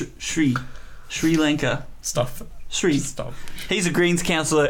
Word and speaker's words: Sri: And when she was doing this, there was this bloke beside her called Jonathan Sri, if I'm pronouncing it correctly. probably not. Sri Lanka. Stop. Sri.